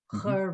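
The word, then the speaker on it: chuir: Okay, so the sound has to change a little bit here. Chur me.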